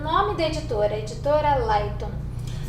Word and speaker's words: Leitung: da editora, a editora Lightum. Isso é uma palavra alemã, a editora Lightum, se escreve, como está vendo aí pelo vídeo, L-E-I-T-U-N-G.